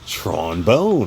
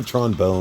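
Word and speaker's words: Tron Bonne: Mega Man Legends series Tron bone or Tron Bon however you want to pronounce it I I go Tron bone CU you know everything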